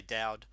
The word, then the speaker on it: Daoud: pronounced down yeah well actually it's an arabic name right it means david in arabic but back home we just say dowd but uh i can